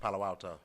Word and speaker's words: Palo Alto: Palo Alto or Palo? That's how you say it? East Palo Alto.